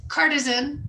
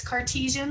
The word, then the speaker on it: Cartesian: get him yes i always call it cartisan i don't know why i always say it wrong but it's cartesian logic we're going to talk